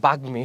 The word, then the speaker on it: বাগ্মী: শব্দের মাঝখানে, বাগ্মী শব্দের মাঝখানে কি আছে?